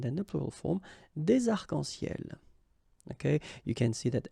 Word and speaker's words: arcs-en-ciel: Okay, you can see that as usual we don't really pronounce this final S, so phonetically it's almost the same, but then we've got this liaison between the two, des arcs-en-ciel. Okay, second situation, un nom